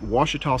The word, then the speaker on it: Ouachita: today we are at Lake Ouachita State Park in Arkansas and yes that is the correct way to pronounce that according to the brochure and locals in the area Lake Ouachita state park is near